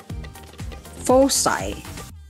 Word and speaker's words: foci: While this word, F-O-C-I, is read as foci, foci.